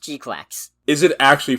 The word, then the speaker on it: GQuuuuuuX: It's pronounced GQuuuuuuX.